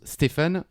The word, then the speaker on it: Stephen: Les Américains prononcent Steven. aussi, Ok. comme s'il y avait un V. Eh Bon, ben, en tout cas, nous, on- on dit Stephen King.